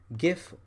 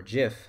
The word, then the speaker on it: GIF: show you how to export gif or Jif however you want to pronounce it gif animations in